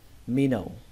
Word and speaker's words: minnow: Âm âu lưu ý ở đây là mặc dù nó ghi là giống từ now, giống từ now bây giờ đấy, chữ now, nhưng mà cách đọc của nó là nâu. Ở đây các bạn hãy xem như âm W này nó không tồn tại và chỉ đọc cái âm O này thôi.